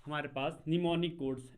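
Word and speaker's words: mnemonic: Assembly language में क्या होता था, हमारे पास निमोनिक कोड्स, एम से लिखते हैं इसे, एम साइलेंट रहता है, निमोनिक कोड्स, ठीक है।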